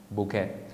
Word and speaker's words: bouquet: But take a look at the way I pronounce the word. You say bouquet. Fíjense cómo se pronuncia. ¿Se acuerdan de la palabra fiancé? Que también viene del francés. This one here también viene del francés, and we say bouquet or bouquet.